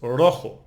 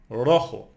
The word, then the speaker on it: rojo: So we have rojo, it's red, It ends in O, so we don't emphasize the last syllable. We emphasize the second last syllable. So it's rojo, rojo.